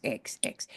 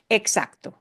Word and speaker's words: exacto: EX, which comes out of Latin, and it's like English, so it's not a hard one. X. Exacto. Exacto.